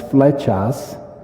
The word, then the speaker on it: Flechas: for and then my last name is fetas and the word feta drop the s means